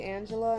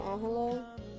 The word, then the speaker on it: Angela: Um, but I guess because my mom's white, they just say Angela instead of Angela.